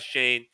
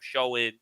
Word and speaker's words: Schoen: learn that name because i was calling him showing samuel i don't i didn't even know how to pronounce it but joe shane after i heard a